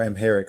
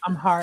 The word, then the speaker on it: Amharic: the Ethiopian church and amic culture or amheric I'm probably pronouncing it wrong amharic just amharic thank you amhic culture just before